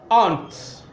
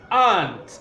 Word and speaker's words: aunt: this word is frequently mispronounced majority of people pronounce this ant and this is absolutely incorrect you can see how the word is trans pride and what you have here is the long awesome so it is aunt is not my aunt is my aunt my